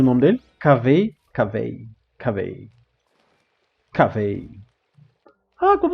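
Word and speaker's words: Kaveh: Então é assim que se pronuncia o nome dele? Cavei, cavei, cavei, cavei.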